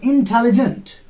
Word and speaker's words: intelligent: I and in, here is one syllable. Tell, another syllable here. Lee, another syllable here. Gent, there is E in the middle of it, and it is giving its sound. Gent. So there are four syllables in this word.